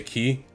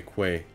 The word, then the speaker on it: quay: question so I say Quay that's just English for some reason I think well I'm pretty sure it's just the country that it came from it's pronounced key we always hear me